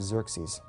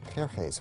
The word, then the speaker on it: Xerxes: So one of these kings in the 400s, his name was Xerxes.